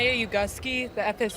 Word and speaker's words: Ugofsky: I think today but people say that wrong about them it's you Gus key answer so that's the